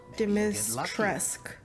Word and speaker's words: Dimitrescu: Dimitrescu.